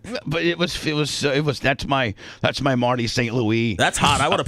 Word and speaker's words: St. Louis: I'm like, that's a player from the team, and it's actually pronounced Marty St. Louis. He's French.